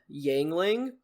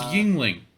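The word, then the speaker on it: Yuengling: lemur named uh yangling spelled like the beer it's Yingling you know what beer is you ever had are you old enough they pronounced I remember them pronouncing it yangling but I I could be completely wrong I don't know if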